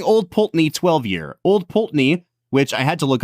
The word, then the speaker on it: Pulteney: uh the balven like if it's going to be peni it's just py there's like 17 e